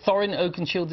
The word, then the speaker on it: Thorin Oakenshield: Is it Thorin Oakenshield? Is the correct way to pronounce it? Thorin Oakenshield.